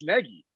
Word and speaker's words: Nagy: It's just but we found out it's Nagy. That's yes, I knew it was Nagy, but at any rate,